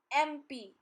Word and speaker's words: MP: MP. Sound is of A first, not M.